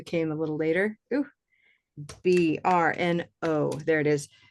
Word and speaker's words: Brno: Okay, so I will say it in the Czech way. Yeah, it's Brno. R. Brno. It's not like R, but it's like R. You have to roll your tongue.